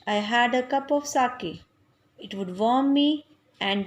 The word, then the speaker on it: sake: Beta, pronunciation of this word is sake.